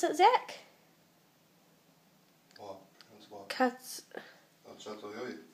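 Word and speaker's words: Çatalhöyük: Catalhoyuk. He pronounces it a cool way. Pronounces it the Turkish way.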